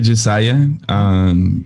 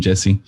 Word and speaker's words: Jesiah: Se pronuncia Jesiah, pero todos mis amigos me dicen Jesse.